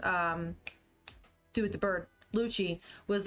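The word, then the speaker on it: Lucci: that was it l Lucy Luchi that's how you pronounce his name uh what the heck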